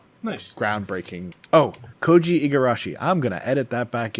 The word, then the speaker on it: Koji Igarashi: Oh, Koji Igarashi. I'm gonna edit that back in earlier. Koji Eigarashi.